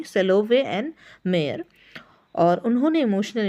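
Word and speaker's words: Salovey: है यह सबसे पहले सॉरी मैंने पहले गलत प्रोनाउंस किया सेवोल नहीं सेलो वे एंड मेयर और उन्होंने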